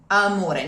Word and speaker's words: amore: It's amore, amore. No M, very closed O.